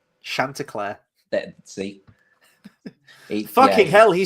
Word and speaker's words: Chanticleer: I know, but he says Sandy Clue, doesn't he? Well, he has like a little kid voice that can't pronounce things, and it's meant to be really cute. When I was a little kid, I could pronounce things. Chanticleer.